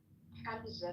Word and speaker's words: Hamza: Hamza, not Hamza. We have to teach you how to say the ha correctly.